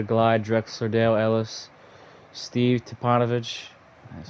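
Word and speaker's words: Stipanovich: team Collide the Glide Drexler Dale Ellis Steve tupanovich that's how you pronounce it thorough Bailey Jeff Malone I don't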